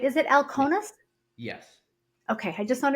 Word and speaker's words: Alkonis: I say your last name right is it El conus yes okay I just want to make sure